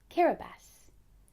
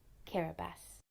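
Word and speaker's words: Kiribati: That's pronounced Kiraabas. Let's say it together one more time. Kiraabas. Kiraabas has a population of over 100,000.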